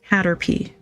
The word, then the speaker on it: Caterpie: So, we have Caterpie, which this is this is the official sticker book of the Kanto region. It is officially pronounced Hatterpee. So, if you're ever wondering, now you know.